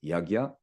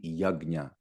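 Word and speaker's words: यज्ञ: it yya is it Yaga or is it yagya so a compound G is pronounced as G okay so correct pronunciation should be Yaga okay Yaga I would say uh in a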